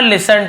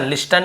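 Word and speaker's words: listen: and never लिसन to those, और कभी नहीं सुनो, लिसन लिस्टन नहीं होगा, टी साइलेंट है लेकिन लिखेंगे, नेवर यानी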